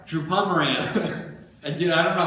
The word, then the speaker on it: Pomerantz: able to get anybody because I suck at pronouncing names. What was it? Drew Pomegranate? Drew Pomerantz. Dude, I don't know how many times. I think it was all year that I kept correcting. Drew Pomeranian?